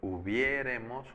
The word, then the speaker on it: hubiéremos: Es yo hubiere jugado, tú hubieres jugado, él hubiere jugado, nosotros hubiéremos jugado, acento en la E.